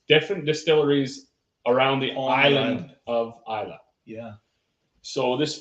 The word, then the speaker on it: Islay: This is not Islay, although Islay sounds better. It does look like Islay. It's spelled Islay, but Isla.